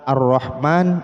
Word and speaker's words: ar-Rahman: berikutnya namun pembacaannya sama contoh misalnya kata ar-rahman ar-rahim itu sebetulnya Al Rohman Allah Rohim Ya namun dibacanya ar-rahman ar-rahim itu karena Alea namun ada sebagian yang